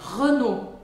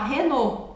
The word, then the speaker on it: Renault: tem alguns pontos legais primeiro é o som do e e eu sei que você vai pensar assim meu Deus tem o r em francês mas aqui o r não é um grande desafio o desafio é o e porque a maior parte das pessoas vai querer falar Renault Renault O bom é que